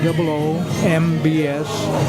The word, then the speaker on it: Combs: coms CS coms coms C of coms SP C O M BS spelled like but pronounced like Combs